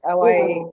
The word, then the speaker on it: Awaye: It's pronounced Awaye.